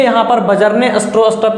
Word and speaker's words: Bjarne: इसके बाद मैंने आपको बताया था ये जो C++ है उसको बजरने स्ट्रोस्ट्रप ने यहाँ पे डेवलप किया था। BJARNE Stroustrup, STROUSTRUP। ध्यान से इसका स्पेलिंग देख लो, बजरने स्ट्रोस्ट्रप।